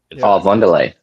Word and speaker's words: Von der Leyen: Von der Leyen.